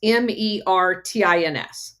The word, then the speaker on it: Mertens: It looks like Martin except for it's instead of an A, it's got an E. So we're just going to call it Martins, the German pronunciation of that. And it's Mertins.